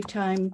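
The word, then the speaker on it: thyme: Old single syllable word with an old-fashioned TH, beginning. An ancient consonant compound that lodges back of the front teeth and turns an H under tongue pressure into common T to usher out a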